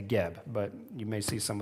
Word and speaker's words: Geb: ago, all the resources, they believed he was called Seb, S-E-B, and so you'll see that in old encyclopedias and references like that. However, today, Egyptologists believe that pronunciation was wrong, and so they've changed it from Seb to Geb, but you may see